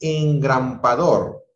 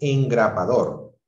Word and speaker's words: engrapador: Por ejemplo, es incorrecto decir engrampador, cuando lo correcto es decir engrapador.